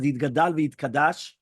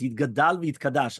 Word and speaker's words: Yitgadal v'Yitkadash: So it says something like this: the custom of Sephardic Jews is to pronounce the first words of the Kaddish as Yitgadal v'Yitkadash, with a vowel of a patah under the dalit of each word. So it's Yitgadal v'Yitkadash.